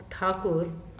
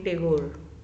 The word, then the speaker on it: ठाकुर: Because of the miss pronunciation of ठाकुर बाय the Britishers he become टैगोर।